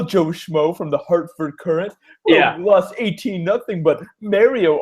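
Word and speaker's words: Courant: that on the podcast you're gonna say karant it's the current current whatever Jeff Jeff Jacobs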